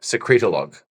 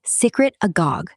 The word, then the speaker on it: secretagogue: So, is it a secretolog? Secretolog. Say it again. Secretago. You stuttering fuckets. It's secretagogue, not secretolog, all right?